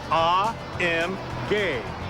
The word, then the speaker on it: AMG: As for those 3 little letters, AMG, well, we're told the proper German pronunciation is AMG.